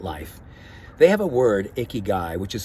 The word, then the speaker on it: ikigai: of looking at life they have a word icky guy which is spelled i-k-i-g-a-i which simply means I have a